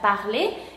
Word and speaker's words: parlez: EZ se va a pronunciar de la misma forma como E. Ya no se pronunciaría es, se pronunciaría E. Por ejemplo, parler, aquí terminando con EZ se pronuncia parler y aquí significa usted habla.